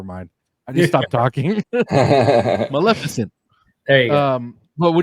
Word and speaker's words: Maleficent: Maleficent.